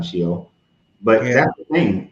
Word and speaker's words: Sheol: You said it right the first time, Sheol.